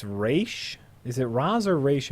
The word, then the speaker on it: Ra's: the actual way it's pronounced Yeah. is Raish.